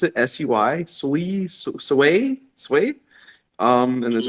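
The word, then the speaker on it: Sui: uh shardium sweet is that even how you pronounce it s-u-y sway sway um and there's a few other ones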